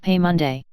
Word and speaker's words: Pimon: Within a half hour, I received a call from Pimon, pronounced Paymonday.